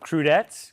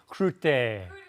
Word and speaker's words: crudité: All right, and we have, I don't know how to pronounce this French word, crudettes, crudettes, you can yell at me, it's fine. Crudité.